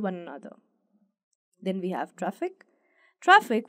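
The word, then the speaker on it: Traefik: another then we have traffic traffic which is pronounced similar to traffic is a Cutting Edge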